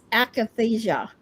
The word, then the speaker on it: akathisia: By the way, that word is akathisia.